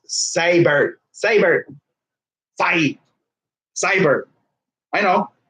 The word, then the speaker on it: Seibert: he's not gonna be a starting card it's pronounced saber saber fight cyber I know yes I know